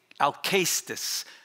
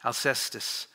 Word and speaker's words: Alcestis: So Euripides, he writes this play on, in Greek, it's Alcestis, but it's usually pronounced in English, Alcestis.